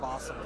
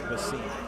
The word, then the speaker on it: Bossum: I was putting in the chip counts and asked his name and said Awesome Bossum. Now we got the pronunciation. I was saying Basim.